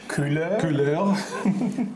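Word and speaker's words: Kuler: an online service called cooler and actually it's pronounced like French cooler and uh k u l e r and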